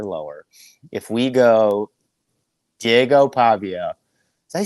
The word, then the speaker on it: Pavia: Diego Pavia did you say his last name Pavia am I say that right I always mess this up yeah that's right is it I mean he's an electric story too uh pava Pavia okay I'm saying it right your boy's not